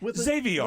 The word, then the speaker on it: Xavier: He's like, it's like caviar. I'm like, oh, okay, Xavier. With Xavier, with a Z. Well, Xavier doesn't sound like caviar. It would be Xavier, right?